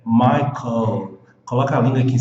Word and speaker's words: Michael: Se você não fizer isso, você vai pronunciar som de U, som de vogal. Não pode, é som de consoante.